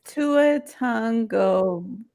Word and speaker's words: Tua Tagovailoa: It is Tua Tagovailoa.